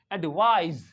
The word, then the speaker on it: advise: है ये जो है इट साउंड्स लाइक जड एडवाइज एडवाइज एडवाइज okay I hope आपके